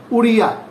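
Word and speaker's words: ওড়িয়া: Mainly capital language হচ্ছে, সেটার language হচ্ছে উড়িয়া, নামের নামানুকরণ অনুসারেই এটার নাম উড়িয়া, উড়িয়া। এটাকে উড়িয়া বলে না, উড়িয়া, ডিটাকে র উচ্চারণ করা হয়, উড়িয়া।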